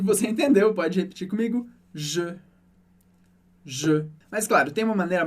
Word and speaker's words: je: Se você pensa, por exemplo, na letra E com a boca aberta, e arredonda os lábios para chegar no som O, só que dentro da sua boca você não muda nada.